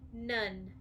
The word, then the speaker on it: none: check yours with mine and o and E nun say the word nun spell the word nun